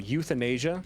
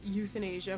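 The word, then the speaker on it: Youthanasia: we have the album youth in Asia pronounce that pronounced SP spelled like Youth and Asia cuz it's the youth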